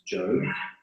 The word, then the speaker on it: Job: and you'll find that there's job that is pronounced not job I always thought it was job but it's not it's job and Psalms and Proverbs and Ecclesiastes and S